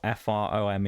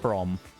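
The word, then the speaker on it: Frome: called room the name of the place spelled f r o m e and a lot of people call it from not it's pronounced from um sure there's a lot uh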